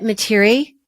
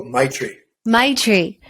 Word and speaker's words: Maitri: And so when I opened it up to the second one, about, is that Materi? Maitri? How do you pronounce that? Oh, Maitri.